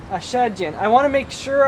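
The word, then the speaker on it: Achadjian: Well, first off, how do you pronounce your last name again? It's Ashadjian. Ashadjian.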